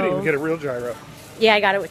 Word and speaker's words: gyro: Euros or gyro? Euros. The technical pronunciation is gyro.